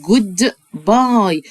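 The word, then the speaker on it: goodbye: مع السلامة، بيعمل مع السلامة الولد ده بيقول جود باي، والاي في الاخر ما بنطقهاش.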